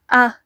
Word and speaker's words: A: Et vous entendez, le son est plutôt montant. A.